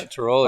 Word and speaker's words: Tiroli: Yep, Joe Tiroli. Am I saying it right, Coach? Yeah, Tiroli.